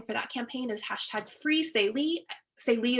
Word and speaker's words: Saelee: Salee is spelled Saelee.